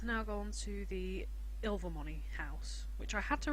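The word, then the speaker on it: Ilvermorny: go on to the ill Vermont house which I had to remember from watching fantastic beasts that it's pronounced ill for money I wasn't really sure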